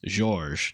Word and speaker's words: Georges: the earlier times, which you're not supposed to pronounce the S. It's silent. It's just how you know he's French. It tells you that it's Georges, not George.